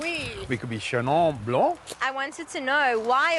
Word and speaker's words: Chenin Blanc: Chenin Blanc. You could be more French, but that would be too accented, perhaps. Oui, oui. We could be Chenin Blanc.